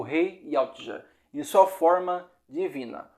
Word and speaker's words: Yautja: Os Yautja, que se pronuncia Yautja, são conhecidos como predadores ou caçadores.